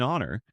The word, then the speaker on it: honor: An hour, an heir, an honor. We use an because the h is silent.